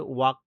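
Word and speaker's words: walking: হি, হাঁটা ইংরেজি কি, হাঁটা ইংরেজি হচ্ছে ওয়াক, WALK, ওয়াক। এটা তোমরা ভার্বের লিস্টে পেয়ে যাবে, ভার্বের ভিডিওগুলো দেখতে থাকো তাহলে পেয়ে যাবে। হি ইজ ওয়াকিং, এল এর উচ্চারণ এখানে হয় না, হি ইজ ওয়াকিং, এটা প্রেজেন্ট কন্টিনিউয়াস।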